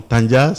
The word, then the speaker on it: Tandia: Bonjour Adama, j'aime bien comme vous prononcez mon nom, Tandja, ce qui dénote mes origines mauritaniennes que nous partageons. Exactement, Tandja de Kayedi, je dis.